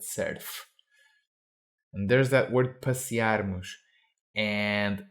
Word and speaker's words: surf: a pressure the surf we pronounce Surf englishy not surf but serf and there's that word